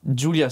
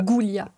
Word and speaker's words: Giulia: Julia, ça se prononce. C'est ça. Et pas ça... Goulia. Ouais, j'allais dire ça, Goulia.